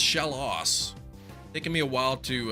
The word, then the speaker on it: Shellos: Keep wanting to call it Shellos. I learned that it's pronounced shallow.